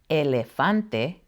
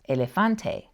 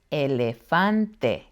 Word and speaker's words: elefante: La letra E always sounds the same as in the word bet, but a typical mistake I hear is that people try to pronounce it like A.